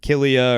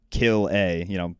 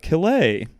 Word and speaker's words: Calais: Everybody pronounces it either Killia or, but no, it's just Kill-A, Kill-A. And he goes, oh, Calais.